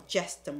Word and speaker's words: gestum: the G right there, I want you to understand it doesn't pronounce it as a hard G, it's a soft G as a J sound, or gestum, okay?